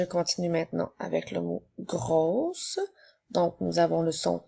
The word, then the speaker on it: gros: continue avec le mot gros qui s'écrit gueux attention le mot gros on ne doit pas prononcer la lettre F donc le s est une lettre Muelle nous avons le mot